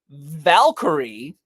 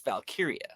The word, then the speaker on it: Valkyria: Because I want to say like Valkyrie, but it's not. It's Valkyria.